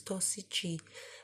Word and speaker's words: tossici: So tossico, which means toxic in the singular masculine, becomes tossici, and because it's a C and an I, it's got this chi sound.